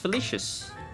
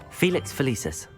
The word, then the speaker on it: Felix Felicis: Felicius. Felix Felicis. Well Felicis, done. okay, that's how you say it.